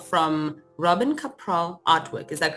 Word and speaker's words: Kapral: you know what it's it's a married name so I don't really care how you pronounce it it is a foreign name it's from from Czech Republic but it's your you did it well capral okay so yes we're